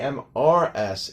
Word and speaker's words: Mrs.: The MRS is almost pronounced like it's the plural of the word Miss.